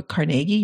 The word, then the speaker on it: Carnegie: go on you know carnegie or carnegie really is how it's pronounced you know carnegie like